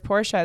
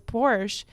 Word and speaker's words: Porsche: the the thing that's funny though about the Porsche vers Porsche is I just think that's such a great